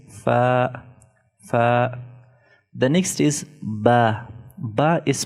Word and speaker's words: ب: When inner parts of the 2 lips are touching each other, ba is pronounced. Ba, ba, ba. So this is ba. Also, it should be prolonged 1 to 2 seconds.